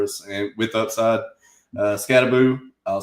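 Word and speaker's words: Skattebo: Uh, Scataboo.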